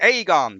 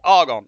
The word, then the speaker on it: Agon: USA yay and then lots of people are going to be pronouncing it the Aon but no it's the Argon I least that's what I say so um yeah big